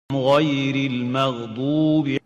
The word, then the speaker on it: غير المغضوب: The right way is pronouncing it like that. غير المغضوب غير المغضوب.